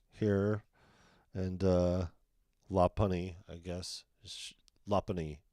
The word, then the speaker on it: Lopunny: Got the Full Art, Loop Bunny here, and Lopunny, I guess. Lopunny is how you say it.